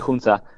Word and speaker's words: Hunza: Es el valle de Hunza, no sé si lo digo bien lo de Hunza o se dice se pronuncia de otra manera. Sí, sí, sí, así es. Sí, Hunza.